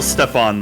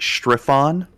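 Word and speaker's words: Strefan: it's on yeah s-t-r-e-f-a-n it's still stefan though that wizards correct your okay it's stefan mar progenitor not strife-on um hey food time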